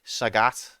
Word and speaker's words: Sagat: the last boss anyway Sagat sag rhymes with um bigat yeah that's what I